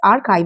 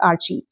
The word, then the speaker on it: archive: So it is pronounced as archive and not archive.